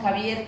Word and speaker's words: Xavier: Mina, que todos conocemos, Javier, que se escribe con X en nuestro país.